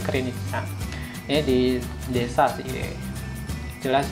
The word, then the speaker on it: Krynica: Nah ini kerjanya di daerah Krynica ya, bacanya Krynica.